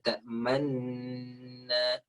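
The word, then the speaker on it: تَأْمَنَّا: Nah, ingat di dalam surah Yusuf ketika ada hukum ismam. Qalu ya abana ma laka la ta'manna. Lihat. Ma laka tahu hukum ismam ya? Ah, lihat. Ma laka la ta'manna. Apa fungsi manyun di dalam ismam di situ? Menggantikan suara nu, Ustaz, yang hilang. Nu yang hilang kan?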